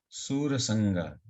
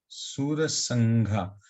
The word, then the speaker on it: सुरसंघा: अमीहि त्वं सुरसंगा विशन्ति, सुरसंगा, सुरसंघा, ये सुरसंघा होगा, सुरसंगा होगा, सुरसंघा, ये क्या होगा? ये सुरसंघा होगा इसका प्रोनाउंसिएशन, ना सुरसंगा होगा? घा संघा, घा प्रोनाउंसिएशन आएगा, संघा, संघा, हाँ संघा,